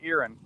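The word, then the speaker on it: Erin: we're really really glad to be in in irin it's pronoun by the way Devon it's not it looks like Ain e r i n but it's pronounced irin irin I didn't know that you're in Tennessee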